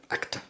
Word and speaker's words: actor: Por ejemplo, la sílaba tónica de la palabra actor en español es la segunda y en inglés la primera, actor.